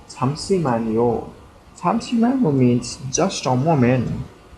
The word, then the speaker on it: 잠시만요: Pronounce it correctly. 잠시만요.